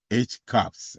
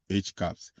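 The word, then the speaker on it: HCAHPS: to measure patients perception of of hospital experience pronounced as H caps. All right you see all that acronym they have there they pronounce it as H caps.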